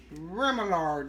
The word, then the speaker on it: remoulade: it for me and she said it was Remillard sauce our e/m oh you